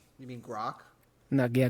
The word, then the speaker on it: Grok: you mean Grok? No, yeah, Gork. What's Gork up to? What's Gork? Yeah, you're saying his name wrong because I disrespect the robot.